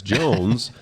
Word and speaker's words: Joens: some point through history and now we're we're Jones and so the hardest part is anytime anybody